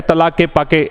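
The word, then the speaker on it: Tlaquepaque: इसका प्रोनाउंसिएशन जो है तलाक के पाके, ऐसा इसका प्रोनाउंसिएशन है।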